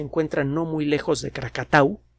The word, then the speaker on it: Krakatau: no muy lejos de krakatau mal pronunciado krakatoa la erupción de tambora